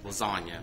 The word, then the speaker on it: Lasonia: Willa Dean has a neighbor, and her name is Lasagna, but it's spelled Lasonia.